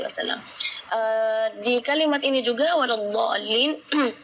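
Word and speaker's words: وَلَا الضَّالِّينَ: Di kalimat ini juga waladdallin yang perlu diperhatikan adalah madnya juga. Mad di situ kita harus panjang membacanya 6 harakat, karena di situ hukumnya mad lazim kalimi musaqqal, jadi membacanya waladh 6 harakat.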